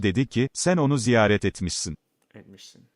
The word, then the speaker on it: etmişsin: Ayşe dedi ki, sen onu ziyaret etmişsin. Etmişsin. Okay. It's the first syllable.